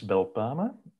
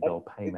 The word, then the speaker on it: Belpaeme: So in Flemish, it's Belpaeme, but all the English speakers have made Belpaeme out of it.